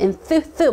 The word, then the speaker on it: enthusiasm: enthusiasm 막 튀기면서 제 애가 잘 못하는 쓰리 발음, 그쵸 번데기 발음.